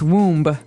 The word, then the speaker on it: womb: explained about a woman's womb. Womb. So this might look like a very hard word to pronounce. There's a b there. So, w m we don't pronounce womb.